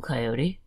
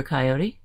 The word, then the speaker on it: coyote: Said Clever Coyote. That's ridiculous. There can't be that many. Why don't you guys count and see how many there really are? Factoid. Coyote can be pronounced coyote or coyote.